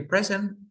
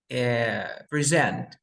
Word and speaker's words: present: ejemplo, de present, que present, la pronunciación cambia. Como verbo se pronuncia present. I have to present, pero como sustantivo es present, que viene a ser un regalo.